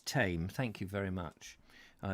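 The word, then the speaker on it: Thame: um and ben reeve tame is pronounced tame like the tame animal sound thank you thank you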